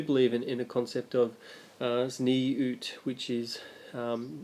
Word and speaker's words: Tzniut: But they do believe in a concept of zniut, which is it's spelt Tzniut.